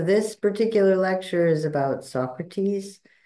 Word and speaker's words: Socrates: So this particular lecture is about Socrates, or the way the Greeks pronounce it, Socrates, as a prophet.